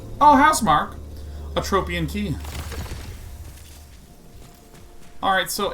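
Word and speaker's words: Housemarque: House Marquet.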